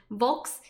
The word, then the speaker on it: Volks: And Volks rhymes with folks.